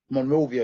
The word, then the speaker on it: Monrovia: So, Monrovia, am I pronouncing that right? Monrovia? Monrovia, yep, you got it.